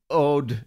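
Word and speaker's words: Aodh: So two of them, they were brothers, and they are spelled A-O-D-H and A-E-D-H, which I pronounced Odd and Ed.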